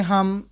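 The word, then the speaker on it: ح: तो जो शक्ल डॉट से नहीं है इसको हम प्रोनाउंस करेंगे हा जो दरमियानी हल्क से अदा करते हैं वो।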